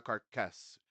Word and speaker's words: carcass: smoking carcass carcass No, carcass has body that a carcass. No, carcass. carcass smoking carcass Yeah, the first syllable is the has the stress a syllable tonica, right?